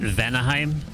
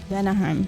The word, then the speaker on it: Vanaheim: Vanaheim. Vanaheim. It's like Valheim, but it's Vanaheim.